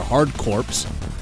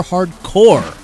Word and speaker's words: Hard Corps: this Genesis game is not called Contra hard corpse but rather a contra hardcore the same goes for